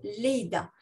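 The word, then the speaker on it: לידה: Une chose qui aide énormément, c'est de prendre le mot accouchement, qu'on va traduire en hébreu par qui se dit en hébreu Leïda. Leïda s'écrit Lamed Yud Daled He.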